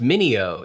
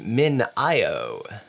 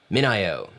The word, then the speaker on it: MinIO: today i learned that it is not pronounced mineo it's pronounced min io which makes sense i like mineo though min io minio has a very nice six minute video